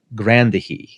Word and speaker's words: Grandier: I would pronounce it Urbain Grandier by the way it's spelled, but from what I've heard, it's more like Grandier.